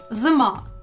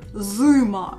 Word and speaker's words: зима: Зима. It's not зима or зима. It's зима. Зима.